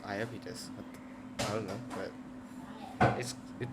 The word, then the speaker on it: Iapetus: Yeah, pronunciation is Iapetus.